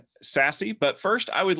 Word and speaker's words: SASE: probably heard of it secure access service edge pronounced sassy what is it is